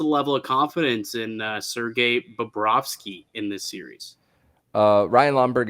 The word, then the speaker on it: Bobrovsky: I remember Mike and I, you told me I have to pronounce it that way. Don't think I forgot that. Bobrovsky.